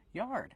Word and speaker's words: yard: the yard y y use the open Y sound like yellow in yesterday plus the r sound like car and far together yard and a stop D yard they sell fabric